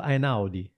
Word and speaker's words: Einaudi: So number one is Ludovico Einaudi. Ludovico Einaudi, Italian.